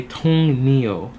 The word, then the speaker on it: 동료: But my teacher said it's kind of hard to pronounce it, so usually you would just say Tong Neo, because it's easier to pronounce it.